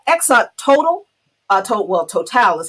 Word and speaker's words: Total: oh yeah oh exxon total i told well total is how it's pronounced in mozambique has a huge uh uh